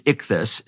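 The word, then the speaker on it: ἰχθύς: word for fish uh is is um is ichthus and it's spelled um you know it's an acronym well the word is ichthys so but the early Christians adopted that symbol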